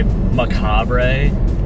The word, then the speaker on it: Macabre: Because there's an R-E at the end, I'm going to say Macabre.